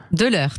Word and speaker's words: Delleur: bienvenue sur Sud Radio est-ce que je VZ bien prononcer votre nom del l'UR dè l'heure de l'heure tout à fait allez comme ça on